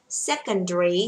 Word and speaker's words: secondary: Secondary, secondary cô không đọc là dairy, đọc là dre, được chưa ạ?